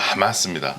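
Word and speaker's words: حماس: 아랍어의 앞자만 따서 그냥 정확하게 발음을 멋있게 하면 하마스입니다.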